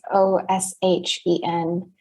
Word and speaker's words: ōSHen: So basically, I am the founder of a company named ōSHen, and it's spelled like the phonetics of ocean. So it's ōSHen.